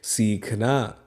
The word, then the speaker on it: सीखना: इसके बाद लिखा है सीखना। स में बड़ी की मात्रा है, इसलिए स का उच्चारण थोड़ा लंबा करेंगे, सीखना।